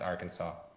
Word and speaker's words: Arkansas: I have not either, but I've always found it fascinating that it is spelled Arkansas and it's pronounced Arkansas.